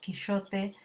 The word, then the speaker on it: Quixote: Hasta el siglo XVI, por ejemplo, la letra X representaba un sonido similar a sh en inglés. Dicho, Quixote, modernamente, ahora se escribe con una J y ha evolucionado a dijo Quijote.